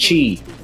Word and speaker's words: Qi: me not yet anyway Qi is pronounced Chi okay let me uh